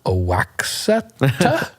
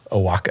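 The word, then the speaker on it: Oaxaca: there i was like oh a wax that's embarrassing well i just like i'm like i'm sorry how do you pronounce that and the woman told me i'm like okay now i know a waka a waka right yeah i think it's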